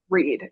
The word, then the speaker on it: Rede: throughout Wicca, I would say, is the Wiccan Read, which is spelled Rede.